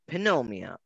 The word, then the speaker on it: pneumonia: you love them uh in english pneumonia is spelled with a p so it's spelled panomia but it's the p silent and spanish you write a